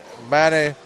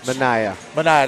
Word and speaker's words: Manaya: And Mana McPherson had 10 points off the bench. Manaya, that's what I said.